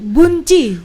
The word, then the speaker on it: Boen Tjie: Oh bukan Ji Hunci Bu, Bunci. Wih kayak Korea ya. Ji Hunci. Ji Humyo. Betul atau salah ejaannya?